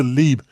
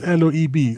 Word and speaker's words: Loeb: Avi Lieb, or I suppose you pronounce Loeb, Lieb. I think so. Loeb.